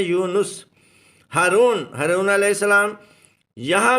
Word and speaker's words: یونس: ہے، یونس علیہ السلام، لوگ یہاں پر نون کے اوپر زبر سے بولتے ہیں، لکھتے ہیں یونس، حالانکہ یہ قرآن کریم ہے یونس۔ ہارون، ہارون علیہ السلام،